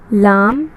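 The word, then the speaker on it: لا: लाम अलीफ की प्रोनाउंसिएशन है ला। हम इसे अगर पढ़ेंगे तो हम लाम अलीफ नहीं पढ़ेंगे, ला पढ़ेंगे, इसलिए हमने इसे ला को लो आकर ला में कन्वर्ट किया है।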